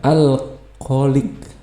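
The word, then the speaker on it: الخالق: Kho ini huruf tebal, jadi bacanya kho bukan h ya. Tulisannya h tapi bacanya kho. Al kho, di sini ada lam lagi ya, di sini ada qaf ya, al kholik, al kholik.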